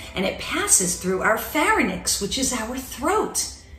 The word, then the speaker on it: pharynx: the pronunciation of pharynx it's not pharynx it's pharynx now as the food travels